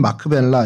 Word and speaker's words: 막벨라: 그래서 큰 성체 같이 생긴 그곳에 그곳이 이제 막벨라라고 약간 예고편을 좀 보여드렸는데 이 막벨라는 히브리 말로 뭐 발음은 마크벨라 이렇게 할 수 있는데 겹쳐졌다, 혹은 이중 이런 의미를 갖고 있습니다.